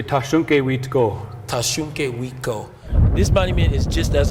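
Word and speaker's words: Tȟašúŋke: you say his name so in our language we say tashonke this monument is just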